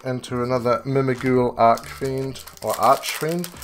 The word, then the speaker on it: Archfiend: We are blasting through into another Mimighoul Archfiend, or Archfiend. I guess it's Arch. You pronounce the ch because there's no E on the end, but then...